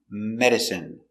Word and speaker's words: medicine: eat no drink take pronunciation medicine m e me D Med Med Med medic medicine medicine stress on first syllable medicine medicine not countable